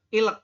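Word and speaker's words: 읽: Ini kan ilek ya. Ini kan tulisannya ilek nih. Kita bacanya il.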